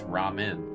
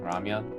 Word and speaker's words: ramen: It's ramen. I'm like isn't that what I'm saying? Ramyan. They're like no. It took me a decent bit before uh learning. I had just had the uh the Korean pronunciation locked into my head, I guess, as a kid.